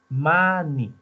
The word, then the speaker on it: many: M, A, N, Y. Many. Se pronuncia many, se escribe mani. Así como de la era del hielo, mani, manito, así.